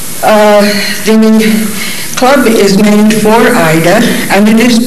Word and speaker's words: Ida: The club is named for Ida, and it is pronounced Ida.